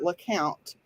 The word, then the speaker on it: Lecompte: it's pronounced look out it is pronounced like count because the family who owned the horse they had a little girl who for whatever reasons called the horse le count and so of course